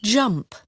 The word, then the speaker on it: jump: Tuy nhiên cái âm đầu tiên này, J says, j, j, j, cong môi lên, rung cổ họng, j, j.